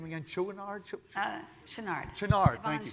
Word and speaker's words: Chouinard: Chouinard? Chenard. Chenard, thank you. Chenard.